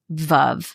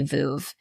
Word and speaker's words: Veuve: And they have, I know you pronounce it Veuve, but I say Veuve.